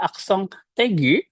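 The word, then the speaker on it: accent aigu: Contohnya kita lihat di sini ada aksong tegu. Aksong eggu tulisannya aksong eggu tapi dibacanya aksong tegu.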